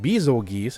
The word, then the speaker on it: Bazelgeuse: Gold Rathian, Silver Rathalos, Seething Bazelgeuse, according to their actual official pronunciation, Scorn Magnamalo, Furious Rajang, and Flaming Espinas.